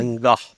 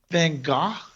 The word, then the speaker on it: Van Gogh: Vincent Van Gogh. Van Gogh?